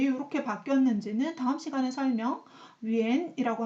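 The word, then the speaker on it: 远: 그리고 멀다라고 했을 때는 중국어로 이렇게 표현을 하는데 여기 왜 이렇게 바뀌었는지는 다음 시간에 설명, 위엔이라고 하지 위안이라고는 하지 않습니다.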